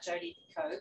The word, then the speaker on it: Picoult: Well, you talked about Jodi Picoult, which I didn't know that's how you pronounce it.